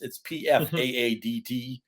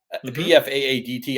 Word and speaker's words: Pfaadt: It's Pfaadt. Pfaadt. I don't know how Pfaadt comes out of that, but I'm going to be watching him from every pitch.